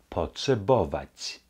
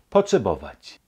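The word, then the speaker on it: potrzebować: Porsche bawatch Posse bovac P gefolgt von einem schönen klaren oh danach ein T Pot gefolgt danach wieder ein schönes klares äh poche die Endung wieder breit potze bovac brauchen potsabovac ein bisschen etwas ein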